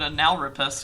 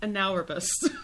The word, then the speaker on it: analrapist: Because he called himself an analrapist, for one. He's the first analyst/therapist, or analrapist. No, it's pronounced analrapist. Not anal rapist, which is what it looks like.